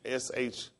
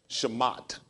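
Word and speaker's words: שמות: Because when they pronounced the S-H-E-M-O-T, well, we would say Shemot. Because we'll try to sign out the T. It just says Shemot. So the T won't have so much of a sound here, the H on the end.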